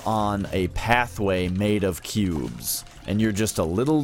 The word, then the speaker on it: Qube: Sony for the ps1 it's called intelligent cube cube spelled with a Q so it's like IQ because it's a puzzle game and it takes place